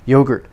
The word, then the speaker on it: yogurt: more sense in korean anyway yogurt yo stress yo long o yogurt the earth unstress er